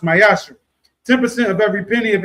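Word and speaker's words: ma'aser: You can find in numbers 18 and 21 Malachi 3:8-10 means temp in Hebrew is pronounced myasher.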